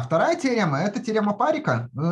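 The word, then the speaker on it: Парикх: вторая тема это тема парика сразу скажу что ударение ставится на на первый слог давайте я даже покажу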